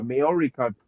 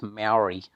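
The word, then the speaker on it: Māori: It's just more syllables than is typically added.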